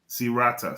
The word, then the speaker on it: Sirata: How do you pronounce that? Sirata.